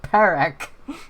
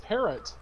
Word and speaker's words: Parak: I think that's what Jory was saying, but he was putting a T at the end. Yeah, he said parrot, and I'm like, that's so close.